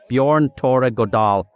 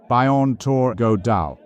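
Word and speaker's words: Bjørn Tore Godal: Norway's minister of Transport Bjorn Tor godal Minister how do you feel about this momentous occasion thank you it's pronounced bionor godal we are very proud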